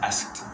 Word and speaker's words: asked: Se escribe asked, se pronuncia asked. La K existe, asked. Cuando llega asked, la K existe, pero es muy corta.